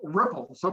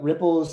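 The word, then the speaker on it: Rypplzz: So the ripples is spelled uniquely uh it's R Y PL ZZ.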